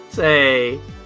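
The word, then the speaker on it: Sei: If you're ever curious about how to pronounce it. Say.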